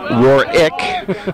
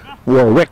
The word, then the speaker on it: Warwick: So we're back to the action, and Calvin and I were going back and forth on Warwick. I'm saying Warwick, I guess. Warwick. It's Warwick. Calvin's always correcting me here on the mic.